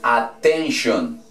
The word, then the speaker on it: attention: Cuando en español una palabra termina en sion, en inglés su escritura es tion y su pronunciación es shon. ¿Ok? Por eso aquí diría attention, atención. Atención en español. Se escribe tion y se pronuncia shon.